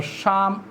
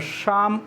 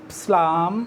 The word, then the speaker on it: Psalm: A charm of life. Don't mistake it. It's not slam, or some students read it like slam, or slam, like that. But it's charm. P is silent and L is silent.